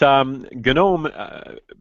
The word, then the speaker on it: GNOME: It's pronounced GNOME because it's GNU, GNOME.